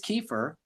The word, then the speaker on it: Kiefer: He's probably not high now, but his real name is Kiefer, and it rhymes with reefer.